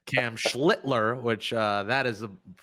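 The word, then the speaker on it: Schlittler: I saw our Phenom whose family put the L in the name to make sure we don't curse when we say his name. Cam Schlitler, which uh that is the correct pronunciation, I believe.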